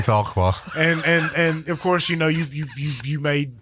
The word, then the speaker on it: Fauquier: And met a couple guys from, and it's Fauquier County, and it's up Farquhar. these guys pronounced it Fauquier County. Yeah, Should be Farquhar.